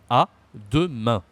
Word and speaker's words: à demain: À demain. So we use again, you see, the nasal. This is so common in French.